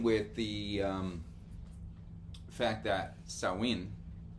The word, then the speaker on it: Samhain: So let's begin with the um fact that sawin s a m h a i n is not pronounced sam hayne.